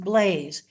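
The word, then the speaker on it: Balázs: Blaze and it's spelled b a l azs pronounced Blaze uh written on his new year's card over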